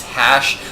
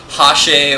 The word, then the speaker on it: HasHe: that don't know, yes, his name is Hash. I've heard it pronounced a plethora of different ways. Sometimes I hear it pronounced Hashe or Hashy, and no, it's just Hash.